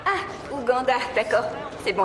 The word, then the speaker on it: Uganda: t'aime je t'aime aussi ça se prononce Uganda ah Uganda d'accord c'est bon à